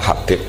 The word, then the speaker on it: Habib: Itu di harokatnya kitab itu ada yang nulis Hubab. Tapi yang benar, oh enggak, yang benar itu bacanya Habib.